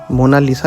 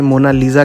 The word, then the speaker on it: Mona Lisa: मोना लीसा कहता है कोई इसे मोना लीजा कहता है लेकिन इटालियन में इसकी करेक्ट प्रोनंसिएशन है मोना लीसा जिसका इंग्लिश ट्रांसलेशन होता